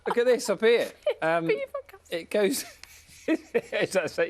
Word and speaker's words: Belvoir Castle: Is it not Beaver Castle? Is it? Is that the pronunciation?